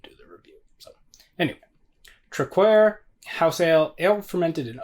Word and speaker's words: Traquair: beer this is uh if I remember correctly it's pronounced truckware I believe I feel like that's wrong but but that's the